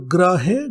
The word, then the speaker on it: ग्रहे: इसी तरह से एक और शब्द गृहे, गृहे घर को बोलते हैं और ग्रहे ग्रह आदि को बोलते हैं।